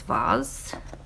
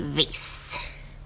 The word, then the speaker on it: vase: you say that word i think the uk pronunciation is vaz maybe and then americans say vase uh i love the